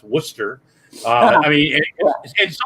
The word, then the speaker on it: Worcester: it's called it's pronounced worcester uh i mean in some areas you know i mean the alphabet you know let's throw letters in and go these are silent you know um yeah